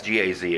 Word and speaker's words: Gaz: anyway that is the camping gasps it's a Gaz they spell it camping Gaz s 2204 propane this is